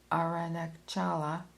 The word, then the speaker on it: Arunachala: atmosphere of intense spiritual vibration as does Mount Aranakchala in South India. I'm going to spell that the name of that mountain. A r u n a c h a l a arunachala in south India.